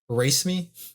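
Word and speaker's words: raceme: it what's it called race me no it's it's spelled as erase me but that's a shape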